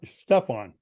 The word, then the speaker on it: Stephan: it Stephen or Steve actually the actual spelling and pronunciation my name is German it's Steph Stefan s-t-e-p-h-a-n is actually because my